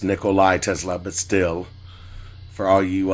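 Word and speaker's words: Nikola Tesla: Now, those for you those of you who like Nicola Tesla, um that right there would would be the best thing. And I know I mispronounced it. It's Nicolai Tesla, but still for all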